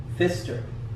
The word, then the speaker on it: Pfister: It is by Marcus Pfister. That P right there is silent.